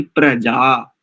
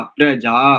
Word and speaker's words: प्रजा: तो ये एक तो नुक्ता नहीं लगाएंगे, यहाँ पर स्पष्ट शुद्ध उच्चारण होना चाहिए, प्रजा, जा, प्रजा, प्रजा।